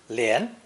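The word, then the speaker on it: 连: with the movement radical pronounced second tone lien lien is the simple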